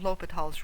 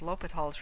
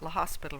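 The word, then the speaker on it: L'Hôpital: is lecture 4 d for calculus one on lal's rule lal's rule is a very important Rule and by the way it's pronounced lal's rule not l hospital rule so lals rule okay and it operates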